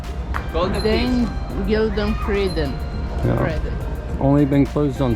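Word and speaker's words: Den Gyldene Freden: Den Gildenfreden.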